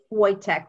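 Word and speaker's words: Woytek: It's spelled T as in Tom, H-I-E-L-M-A-N-N. Okay, and? Wojtek, W-O-Y as in yellow, T as in Tom, E-K.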